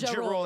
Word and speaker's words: Ja Rule: Ja Rule is how you say it.